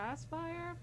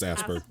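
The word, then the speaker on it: Aspyr: gonna remake developed by a sphere aspire can't pronounce it i i thought it was asking it's asper yeah okay nice but yeah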